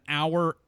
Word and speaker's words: hour: say an honor an hour or an heir for example cuz the initial letter H in all three words is not actually pronounced by contrast we say